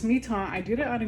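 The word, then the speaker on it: Mi-Teintes: this on um Mito it's spelled like my taint my taint pastel paper um but it's me ton I did it on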